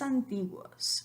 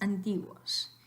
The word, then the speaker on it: antiguos: Entonces, la pronunciación correcta de esta palabra no es antiguos. Antiguos, es antiguos, porque U, O forman un diptongo en la misma sílaba.